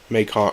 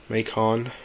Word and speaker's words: Macon: Macon. Oh yeah, I keep forgetting. I always pronounce it wrong.